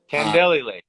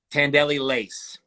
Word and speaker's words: Tandelli Lace: You said it right. That's actually my wife. Tandelli lace. Tandelli lace. All right, there we go. Yeah. It's like the song Chantilly Lace.